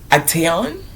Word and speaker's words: Actaeon: Actaeon.